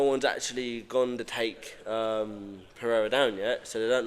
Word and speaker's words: Pereira: It's not Pereira. It's Pereira. Apparently. Sounds like with an L.